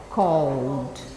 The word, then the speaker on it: called: We say called. One syllable, called.